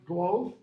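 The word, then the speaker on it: glōf: and stuck him in his golf glos pronounced glove glove honshu he had glove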